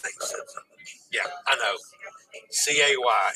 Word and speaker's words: Cay: C-A-Y is pronounced key properly.